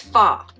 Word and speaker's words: pho: I want to say pho, or is it pho? It's pho, because I never say it right.